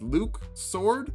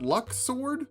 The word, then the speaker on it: Luxord: here's what we know he likes cards he has time powers and apparently his name is luke sword not luck sword that threw me for